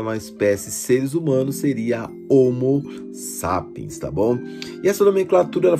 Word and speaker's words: homo sapiens: chamado de homo sapiens a pronúncia correta é homo sapiens ele aparecerá em cima